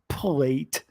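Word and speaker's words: Plait: but we gotta admit it's philip platt plate just because it's spelled p-l-a-t-t-e believer in us likes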